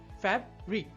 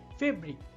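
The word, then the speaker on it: fabric: ফ্যাব্রিক। আপনি যদি এ এর বদলে ই ব্যবহার করেন তবে উচ্চারণ হয়ে যাবে ফেব্রিক যা ভুল।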